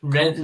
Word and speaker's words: Rennes: Like Rennes, that's how you say it. That's how you Rennes. say it. Rennes, mate. Well, that's not how the French say it.